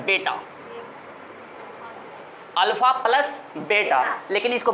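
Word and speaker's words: beta: कोई कोई इसको कोई पढ़ लेगा बेटा पढ़ लेगा, लेकिन इसका बीटा नहीं है, इसका बेटा नहीं बोलना है, बीटा कहना है, बीटा, ओके, बीटा, और इसको अल्फ़ा।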